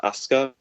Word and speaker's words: Asuka: and I see this, it makes me think it's pronounced Asuka, which makes me think of Rocky Romero's nickname, which is Azúcar, which is Spanish for sugar. So yeah, I think it can be pronounced that way. I think it can also be pronounced Asuka, which is the formal Japanese pronunciation.